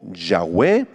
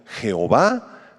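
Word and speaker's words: Yahweh: H b chica H que se pronuncia como yah o yahwe las traducciones castellanas le han puesto Jehová la King James en inglés jehova que se refiere justamente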